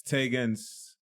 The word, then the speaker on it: Taigenz: like to introduce yourself yes my name is taegons taegons ta IgE and said the trick about my name is that you pronounce it once you will never forget I